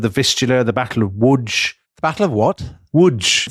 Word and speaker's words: Łódź: I think Lodz is how you pronounce it, Dom. No, I think not, Tom. Łódź.